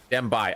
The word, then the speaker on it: Dembai: Dembai or Dembe? Dembai. Okay, good. I was saying it right.